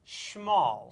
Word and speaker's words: Schmol: to check this out it is pronounced small small you say small small which rhymes with doll which makes the jokes